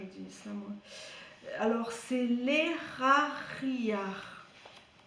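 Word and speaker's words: Lehahiah: Alors, c'est l'Eraria. Alors, ça s'écrit L-E-H-A. Donc là, tu prononces R. L'Era. H-I. L'Erari. Et A-H. L'Erari.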